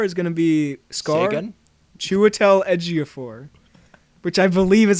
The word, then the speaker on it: Chiwetel Ejiofor: would tell Ejiofor is gonna be skull gun Chiwetel Ejiofor which i believe is how you pronounce it stop making me second-guess it he